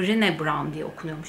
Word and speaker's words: Brené: Brené Brown'un, aslında Brené Brown diye okunuyormuş İngilizce'de ama Brené Brown bana daha kolay geliyor.